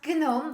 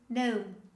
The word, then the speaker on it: gnome: example the word gnome majority of english learners they usually pronounce gnome they pronounce all the letters in this word but the correct pronunciation is no no english pronunciation is full